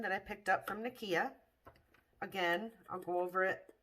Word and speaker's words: Nikkia: or nikia joy cosmetics online and i believe it's spelled n-i-k-i-a so nakia joy so her powders a few of her